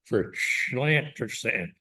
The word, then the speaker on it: Llantrisant: And I'm using the Welsh pronunciation for Llantrisant.